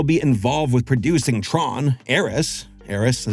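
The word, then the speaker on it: Ares: Aerys, Aerys, is how you say it.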